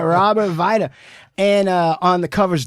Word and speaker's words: Weide: oppression uh pronunciation is Vita W is pronounced as a v yeah Massey W and an E and A D I say weed but okay all right Robert Vita and uh on the